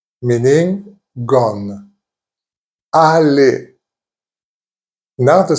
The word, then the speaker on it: allé: Most of the time, it will be pronounced E. E. Examples: bébé, which means baby. Bébé. Donner, meaning given. Donner. Allé, meaning gone. Allé.